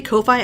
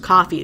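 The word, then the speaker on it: Ko-fi: every time I say KO phi i say i know it's probably pronounced coffee but I'm gonna say KO fine so anyway there's links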